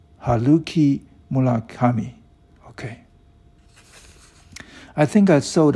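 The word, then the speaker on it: Haruki Murakami: is reading this story you pronounce my name probably wrong my name is uh haluki mula kami okay i think i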